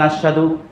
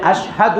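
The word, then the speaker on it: أشهد: ইল্লাল্লাহ ওয়াহদাহু লা শারিকালাহ এখানেও আপনারা ভুল করেন বলেন আশহাদু শব্দটার উচ্চারণ কি হবে কিন্তু আপনারা বলেন আশহাদু আশহাদু আমি কঠিন আল্লাহকে বলছেন আমি কঠিন কিন্তু হবে আশহাদু আমি সাক্ষ্য দিচ্ছি আল্লা ইলাহা ইল্লাল্লাহ মুহাম্মাদুর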